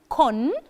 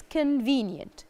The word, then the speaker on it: convenient: good for me and we don't say con so the first sound is not o it's uh so the sound here remember the schwa that we talked about before so it's not convenient it's convenient convenient so convenient which means